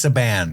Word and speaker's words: Saban: Um, and I don't know how to pronounce her name is. You guys have been saying Fia Saban. It's Saban.